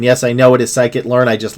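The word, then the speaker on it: scikit-learn: AI, Python, R, C++, Cloud, SQL, TensorFlow, PyTorch, Skibbity Learn, Pandas, Numpai, Langchain, Rack, and yes, I know it is Psychitlearn.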